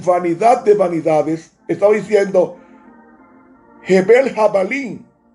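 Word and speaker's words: הבל: Abel se pronuncia Ebel en el hebreo. Ebel. Entonces, cuando dijo Salomón vanidad de vanidades, estaba diciendo Hebel Jabalín.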